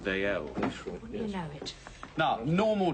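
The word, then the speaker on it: Dalziel: make note that yeah how you spell that name d a l z i e l old Scots name pronounced d l you know it now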